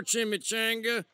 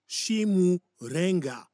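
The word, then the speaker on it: Chimurenga: I've heard it all before, Chimichanga. There's no bright future under communism. It is pronounced Shimurenga.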